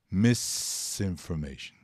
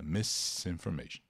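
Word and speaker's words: misinformation: to learn a pronúncia Miss information Cuidado para não soltar em um som de z que não existe nesta palavra Miss information desinformação informação errada equivocada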